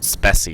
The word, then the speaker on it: Speccy: that it pops up And a program called Speci is really good if you want to see what hardware is working, or you can use just the Windows Hardware Manager. But the Speci gives a much simpler list.